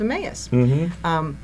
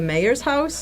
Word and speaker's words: Emmaus: came together, and we started this thing called Emmaus.